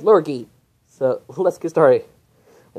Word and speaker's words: Lurgee: or allergy besides well the largie is the mispronunciation so for the full so for this video we're pronouncing as lurgy so let's get started